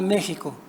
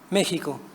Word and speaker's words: México: por la palabra México, cuya consonante fricativa palatal soda, sh, se glotalizó en el español de España mediante la J, jo. La suavidad palatal de la consonante náhuatl, pronunciada sh, se volvió ásperamente gutural en el español de España, glotalización que se repercutió en el español mexicano, aunque de manera más suave.